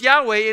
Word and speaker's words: Yahweh: we know is that these are four Hebrew letters and it's pronounced Yahweh and in our English